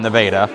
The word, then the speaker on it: Nevada: So my mother-in-law is from Nevada, but you know why Nevada's pronounced that way, don't you?